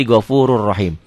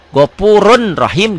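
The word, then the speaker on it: غَفُورٌ رَحِيمٌ: tanwinnya baca satu jadi gofurur rahim. Atau kalau Quran warna kan satu oranye, satu hitam. Jadi yang oranye nggak dibaca, yang dibacanya hitam. Gopurun rahim dibacanya jadi gofurur rahim.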